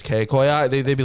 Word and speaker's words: Kcoyi: I just want to point out today it's pronounced K koi i right oh yeah take oi oi everybody be